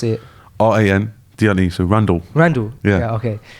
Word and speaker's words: Randle: Oh, how would I pronounce it? R-A-N, D-L-E, so Randle.